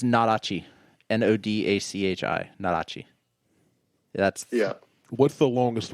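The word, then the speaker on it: nodachi: that i can't pronounce yeah this is all pronounced it's it's it's narachi n-o-d-a-c-h-i narachi that's yeah what's the longest one of those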